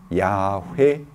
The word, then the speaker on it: 야훼: 찾을 수 있게 됐습니다 그것이 뭐냐하면 야외에 라는 것입니다 그래서 에 2 여호와 라는 것은 이 문자의 다가 아도나이 에 몸 짤을 섞어서 어 그냥 만든 줘 어 줘 줘 오지만 본래 이 문자의 발음의 가까울 거다 라고 생각하는 것이 야외 에 공덕 번역에는 돼서야 외해 이렇게 번역을 해 놨습니다 근데 사실은 쾌락이 보다 에 h 가 약하게 나는 그런 것입니다 그래서 야외에 의 이런